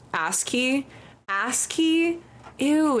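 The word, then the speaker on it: ASCII: actually go into a coma you can just pronounce ask key ask key ew it's like an ass oh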